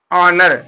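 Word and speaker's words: honour: देख लेते हैं जैसे यहां पर देखिए ऑनर लिखा क्या है h ओ एन ओ यू आर तो यहां पर एच साइलेंट है इसको क्या पढ़ेंगे अनर पढ़ेंगे या ऑनर पढ़िए अनर या ऑनर पढ़िए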